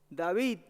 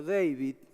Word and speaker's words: David: que hace pocos días david y deivid martín es raro pronunciarlo porque es david martínez en mexicano pero se lo pronuncian así sí pero un